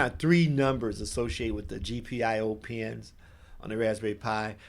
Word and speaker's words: GPIO: just, what that GPO, people pronounce it a lot of different ways. GPIO and GPO. There's so many different crazy ways to pronounce that, but I just say GPIO so that we're on the same page.